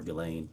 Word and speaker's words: Ghislaine: As best as we know, it's been reported that in 2024, Ghislaine Maxwell, or Ghislaine, I think is how it's pronounced, arranged and wired $1